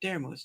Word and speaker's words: Daramouthe: And then that's how I got Daramouthe. Now, Daramouthe wasn't as is, but again, in the English language, the E is silent, so consider that as is.